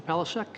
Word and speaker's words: Palasak: Pelisek. Is that, am I pronouncing your name correctly, sir?